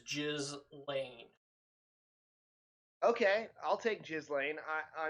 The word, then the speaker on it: Ghislaine: Um, Gizlane, is it Gizlane? Gil Gillain. I Gillian. I'm almost 100% certain the proper pronunciation is Jiz Lane.